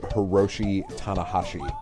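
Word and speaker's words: Hiroshi Tanahashi: by the way Chris his name is pronounced Hiroshi hana Hoshi cool I got that right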